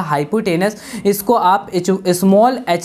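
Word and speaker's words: hypotenuse: बेटा इसकी स्पेलिंग याद रखना, हाइपोटेन्यूस लिखा जाएगा लेकिन पढ़ा जाएगा हाइपोटेनस।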